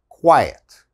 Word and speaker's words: quiet: another similar word is diet okay this is quiet diet quiet all right and the last one